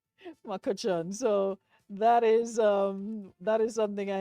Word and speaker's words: McCutcheon: And I've been catching my nenin to pronounce your surname. And it was told there was no, because yesterday I was like, Kuchion, and there's like, no, there's no Eon. It's just Makuchon. Makuchon.